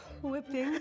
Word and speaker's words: whipping: We're adding in our heavy whipping cream. Whipping cream, H is silent.